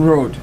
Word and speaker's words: Roate: Our guests this morning are Lisa Drew, Marcia Cook, and Roate. Is that correct pronunciation That is of your correct, last name, yes.